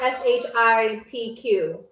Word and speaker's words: Shqip: So SHQIP, not SHIPQ. My bad. But just for the future, that's how you spell it.